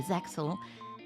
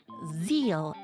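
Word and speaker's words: ZEXAL: Gaga magician is clearly meant to represent humor from Yu-Gi-Oh Zaxel or zeal as it is supposed to be pronounced apparently.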